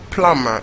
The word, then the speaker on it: plumber: so like I said the be in plumber is silent so the worse bonus plumber and not plunder but it'd be in